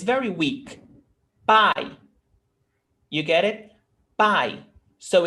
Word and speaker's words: pai: But one is stronger than the other. Pai. Which one do you listen sharp? A or E? Ah, A is pai. You almost don't hear E. It's very subtle.